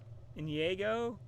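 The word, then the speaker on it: Iñigo: camera's first name i i want to say indigo montoya i know that's the wrong way of saying it i can't say it the other way i have a hard time pronouncing it for some reason in diego i think in diego montoya but uh you know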